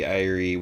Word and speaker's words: Ire: Yep, the Irie, which is just spelled like ire. Yep, I-R-E. And I'm just like, that's just an existing word, ire.